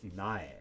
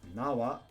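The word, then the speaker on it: 苗: Seedling sapling or shoot is a nigh with our grass radical over a field alternately pronounced Nawa in conjunction with another kanji or Biol thanks for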